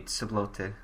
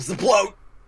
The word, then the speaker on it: Ceblote: He's German, so it'd be Ceblote. Really? Yeah. I was going to call him Zeblote.